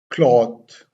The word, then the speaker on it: cloth: Look at, I have separated the sound of this word. K, L, A, W, and T, H. Cloth. Cloth. Cloth.